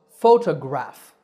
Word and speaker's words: photograph: one is slightly different the first is easy there are three syllables fo to graph the stress is on the first syllable fo so photograph the next two words